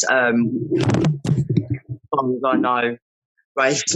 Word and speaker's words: Raif: In today's episode, we have Raif. Am I pronouncing that correctly? Yeah, that's right. Raif and Connie.